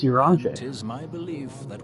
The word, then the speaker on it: Urianger: Might more permanently I thought it was Urianger. But it's Urianger.